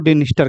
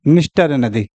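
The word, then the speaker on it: Dniester: निस्टर नदी, निस्टर। इंग्लिश में देखेंगे तो इसका उच्चारण डी से होता है, तो कोई लोग इसको डिनिस्टर भी कहते हैं, जबकि एन से पहले डी आपका साइलेंट हो गई है।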